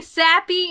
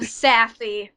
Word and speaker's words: Safie: my name wrong and call me sappy instead of Safie except for mad munchkin